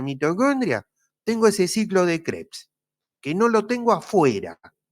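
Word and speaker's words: Krebs: es el llamado ciclo de creps creps que se escribe K r e b larga s crebs el nombre de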